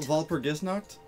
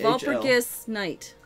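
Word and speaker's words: Walpurgisnacht: I think it's a hard G. Are you sure it's not Gis. Gis? Knocked. So Night. Knocked is night. Valpurgisnacht? But it's VAHL. Valpurgis Night.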